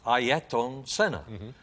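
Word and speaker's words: Ayrton Senna: pronounce his name or the way you should pronounce his name is ayaton senna and when he was in formula three which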